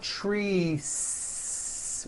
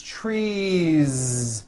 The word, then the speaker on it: trees: tree or two trees it's not trees with an unvoiced S it's trees with that voiced ending you see that another